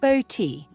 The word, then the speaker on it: Botti: His name is a nod to my maiden name, Botti, pronounced Boti, as a way to honour my side of the family.